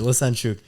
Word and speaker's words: Lesenciuc: Did I pronounce that right? You got it right. You got it right. Lesenciuc.